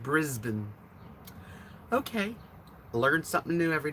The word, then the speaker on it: Brisbane: named sean he was irish okay brisbane is pronounced brisbane okay learn something new every day adonis i